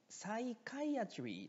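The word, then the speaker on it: psychiatry: ね。1 番、サイカイアトリーというふうに発音します。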